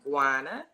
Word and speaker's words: Guana: My name is pronounced Giana.